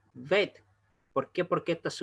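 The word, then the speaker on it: בית: Ahí no se pronuncia veit, ojo con eso, se pronuncia vet.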